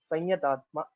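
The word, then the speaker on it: संयतात्मा: Samyatatma will have to pronounce it as sanyatatma. This anuswara will be changed into anunasika yakara.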